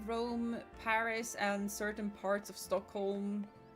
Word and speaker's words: Paris: English is so weird because in French it's Paris, in Swedish it's Paris, so it's still punctuated on the I, but in English it's Paris, and you punctuate the A.